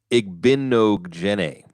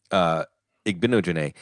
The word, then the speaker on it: Igbinoghene: Scott Wright, our old friend, does the pronunciation guide. Igbinoghene. Igbinoghene.